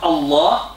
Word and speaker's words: Allah: But in this case, we pronounce it thick because it is thickness for greatness of Allah subhanahu wa ta'ala.